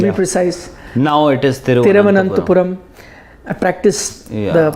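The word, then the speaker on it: Thiruvananthapuram: Now it is Tiruvananthapuram. I practiced the pronunciation of how to say it. I was pretty comfortable with Tiruvananthapuram. I used to sometimes stumble upon it. Tiruvananthapuram.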